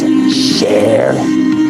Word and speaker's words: Sharon: It's Sheran. That's how you pronounce it.